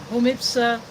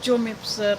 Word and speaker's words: Jomipsa: Poland with stuff from Homipsa. Some pronounce it Jomipsa, but I pronounce it in proper Spanish because Homipsa is in Spain.